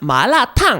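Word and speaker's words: 麻辣烫: But when you were ordering that mala tang, you seemd to be really fluent. Mala tang! What was it? How do you say it? Show me. It's second tone, fourth tone, fourth tone, so - you go, "Ma la."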